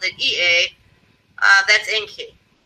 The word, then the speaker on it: Ea: The Sumerian or Mesopotamian spelled it E-A. That's Enki. Ea is how you pronounce it.